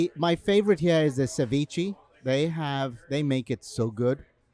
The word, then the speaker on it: ceviche: My favorite here is the ceviche. They make it so good. What is it? Ceviche.